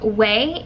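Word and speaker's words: Ouai: it's just freaking bomb it's called way even though it's spelt like Y or something it's oua I weighing their hair oil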